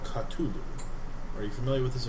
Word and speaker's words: Cthulhu: There are some disturbing connections between this Sandbat, the things on the Peloponnesian Islands, and Cthulhu. I go kind of white. Okay? What is... I assume he's I'm mispronouncing unfamiliar. Cthulhu.